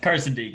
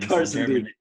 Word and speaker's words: Karstendiek: Is that how you spell it? How do you say it? Karstendiek. It's a long one. Karstendiek.